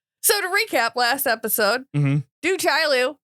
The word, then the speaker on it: Du Chaillu: How do you say your name? You said it different than I do. I say do Chaillu, and I believe I'm wrong because it's definitely spelled Lu. It's do Chaillu. Very clearly Lou.